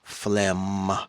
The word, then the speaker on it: phlegm: It's drum, phlegm, thumb. It sounds like an M.